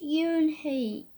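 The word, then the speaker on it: Unhei: to Joey not just a lot yes it's pronounced Yoon hae and it means grease mr.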